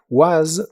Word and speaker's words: was: Was termina con el sonido vibrante de la s. was.